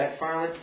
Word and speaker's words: MacFarlane: Am I pronouncing his name properly? Yeah. MacFarlane.